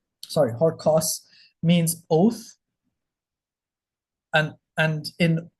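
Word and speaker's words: ὅρκος: um apostrophes over it, it gets an H in front of it. So, H O R, this is an R. P is pronounced like a R. K O U S. Horos, right? Horcos, sorry, Horcos means oath.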